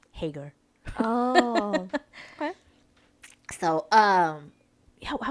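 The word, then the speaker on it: Haggar: Because it's spelled H-A, I think G-G-A-R. And people would always say Hagar. Oh, I But was thinking of Hagar. Oh. no, yeah, they always say Hagar.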